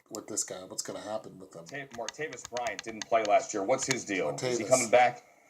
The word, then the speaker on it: Martavis: I'm sorry, it's spelled Martavis Bryant. Martavis. I was saying Martavius.